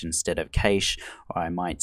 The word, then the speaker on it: cache: of Australian and British, and you'll find I pronounce words slightly differently. Sometimes I might say cash instead of cache, or I might say router instead of router.